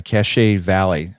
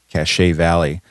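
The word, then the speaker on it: Cache Valley: there you go uh cachet Valley I think that's how you say it oh it's okay c-a-c-h-e cachet Valley there's a lake with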